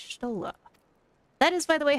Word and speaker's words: Y'shtola: Ah, it's Y'shtola. That is by the way how her name her name is pronounced. Y'shtola. Y'shtola is actually her actual name.